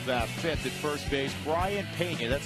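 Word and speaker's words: Brayan Peña: Brian Pena, that's how that name is pronounced.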